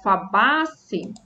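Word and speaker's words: Fabaceae: É, igual fabace, o final a gente fala C, né? Mas termina com EA, porque é o latim, né? Tem esse EA no final, mas na pronúncia fala como se fosse um E somente.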